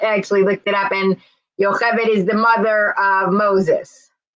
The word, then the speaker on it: Yocheved: Yocheved. Yocheved. Okay. Very good. Yeah, Americans can't pronounce it at all, as a rule. So, I mean, it's a Hebrew name. It's a biblical name.